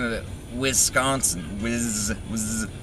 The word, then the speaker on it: Wisconsin: in um i forgot the name of it wisconsin whiz was it's uh it's come to my attention that's pronounced the z like whiz wisconsin not whisk s s s six yeah so wisconsin the first three weeks were in green bay